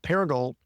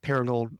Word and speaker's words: Paragould: you're from a little town in Arkansas called Paragould. Did I pronounce that right? Paragould?